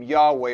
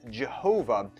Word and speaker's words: Yahweh: by mere mortals yahweh essentially gives this name yahweh or yahweh which by the way it's incorrectly pronounced as jehovah what this name does is it serves as